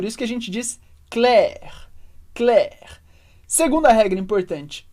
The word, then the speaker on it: Claire: Claire ou CL e essa é outra regra de pronúncia muito importante que o e no final da palavra como Regra geral a gente não lê Então a gente vai dizer cla a gente pronuncia o r mas não pronuncia o e que vem Anes vai lá tenta repetir